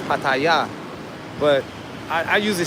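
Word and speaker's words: Pattaya: No, it's I I usually pronounce it patia or pataya. Uh the correct name the Thai Thai people say is paya but I I usually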